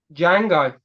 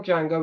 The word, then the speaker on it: Django: who played the original D Jango in the 66 film and he asked what's your name d Jango and he's can you spell it and he spells it the D is silent that is actually yes